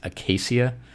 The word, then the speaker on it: Acacia: It's Acacia.